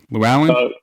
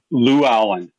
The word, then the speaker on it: Lewallen: How do you say your last name? Lu Allen. Lou Allen. Yep. Lou Allen. Right on. Just like from uh No Country for Old Men.